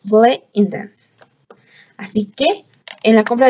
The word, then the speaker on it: Bleu Intense: En la compra de una Bleu Intense, la palabra correcta para pronunciar este perfume, muchas decimos Bleu Intense, pero estos productos son franceses, así que la manera correcta es Bleu Intense.